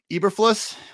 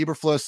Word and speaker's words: Eberflus: say this last night i say everfloss that's the way i've heard it pronounced um which i don't